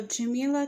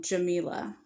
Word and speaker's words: Jamila: her name but I like um Jamila or jamala like Pamela jamala um or jamaila maybe or Jamila like vanilla so maybe I would probably say more so Jamila would be how I would pronounce her name um so one thing